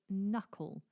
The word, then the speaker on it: knuckle: it is the word knuckle. Knuckle. This starts with the letter K, but that is silent. How useful our English language is. So knuckle has an N sound, but starts with a K.